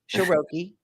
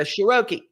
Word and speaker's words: Sheroky: Sheroky. That's right. It's like vowel, consonant, vowel is always a long sound. So you go Sheroky.